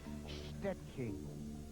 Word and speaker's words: Szczecin: Perhaps if only to teach people how to pronounce the name of her hometown in Poland. It's Szczecin.